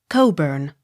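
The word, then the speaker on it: Cockburn: b u r n coburn c k not sounded c o l q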